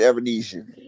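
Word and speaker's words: Avanesyan: Was that when you were talking about Avenesian? How do you say his name? Was that on Black Prime? It's David Avernesian on BLK Prime.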